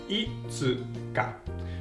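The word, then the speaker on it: いつか: Now, fifth day of the month, itsuka. Shorten ulit natin ang tsu pag magpo-pronounce tayo ng mabilis.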